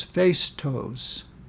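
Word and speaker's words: Phaistos: to number two and you pronounce this face toes face toast we've moved a little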